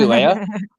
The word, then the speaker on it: Leia: actually, Leia? Well, spelled Leah. Okay, but it's pronounced Leia, not Leah.